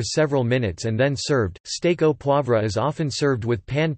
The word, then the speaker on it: Steak au poivre: Steak au poivre, French pronunciation, steak au poivre, Quebec French pronunciation, steak, K-O-P-W-V, or pepper steak